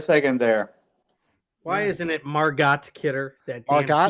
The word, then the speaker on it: Margot: Why isn't it Margot Kidder? That damn Margot? T is silent.